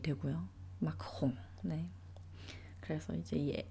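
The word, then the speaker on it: Macron: 약간 로댕과 로댕과 호당의원 경우는 많습니다이 이제 에알 발음 때문에 그렇죠 우리가 이제 프랑스 대통령인 마크롱 이제 한국 언론이나 뭐 한국에서 마크롱 마크롱 이렇게 이야기를 하지만 사실은 이제 마으로 발음이 되고요 마홍네 그래서 이제이 알 때문에 발생하게 되는 뭔가 그런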